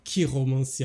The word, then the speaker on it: Chiromancy: Chiromancy. I love that. Because it's CH in French is pronounced sh most of the time, but here it's k.